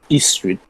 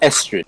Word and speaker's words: Estrid: So the book starts off basically with the Princess Istrid. Actually, it's pronounced Estrid. It's pronounced Estrid. I've pronounced this incorrectly.